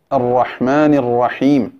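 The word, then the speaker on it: الرحمن الرحيم: ബിസ്മില്ലാഹിർ റഹ്മാനിർ റഹീം എന്നിടത്ത് തഫ്ഹീം ഒരൽപ്പം, അതായത് വായ നിറച്ചു പറയുക എന്നുള്ള ശബ്ദം, റോ എന്ന ശബ്ദം ഒരൽപ്പം കുറഞ്ഞുപോയി എന്ന് എൻ്റെ സുഹൃത്തുക്കൾ ഒരാൾ ഉണർത്തിയിരുന്നു. അപ്പോൾ അത് നിങ്ങൾ ശ്രദ്ധിക്കുക, അർറഹ്മാനിർ റഹീം എന്നാണ് പറയേണ്ടത്. അങ്ങനെ എൻ്റെ അവതരണത്തിലോ ഖിറാഅത്തിലോ ഉച്ചാരണത്തിലോ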